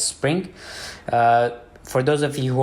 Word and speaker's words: xSpring: And the next is Spring, Xspring, basically it's pronounced as Spring.